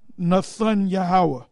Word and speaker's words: Netanyahu: Nathan Yahweh. Banyamin Nathan Yahweh. That's how you say it, all right? He says Netanyahu, all right?